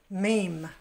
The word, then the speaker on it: meme: Nah, itu pronunciation kata itu meme. Seperti dalam bahasa Inggris, stream, fame, tame, cream, dream, meme.